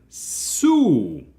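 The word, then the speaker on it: す: and then we have Sue Su is just the S sound plus u making a su sound is pronounced like the word SU or Sue in Su it in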